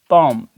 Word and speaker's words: palm: ठीक है, इस तरीके से वर्ड पॉम, PALM। अब देखिए यहाँ पे एल जो वर्ड है वो साइलेंट है।